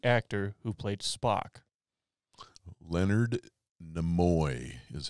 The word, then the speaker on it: Nimoy: Leonard Nimoy is how you pronounce that. Everybody wants to go Nimoy, but it's Nimoy. It's Nimoy.